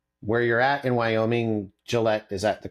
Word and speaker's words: Gillette: from my research where you're at in Wyoming, Gillette, is that the correct pronunciation?